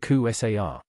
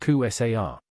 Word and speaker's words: Kasar: last name was kasar we at work always pronounced at KU SAR a guy calls and asks for John Kate SAR the engineer who answered the phone said actually that's pronounced Q SAR he's not here can